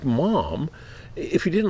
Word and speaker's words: Maugham: how could he like Mom if he didn't like Somerset how would he like Mom m-a-u-g -ham I think right and uh it's pronounced mom like Mom like I'm a mom like it's like Mr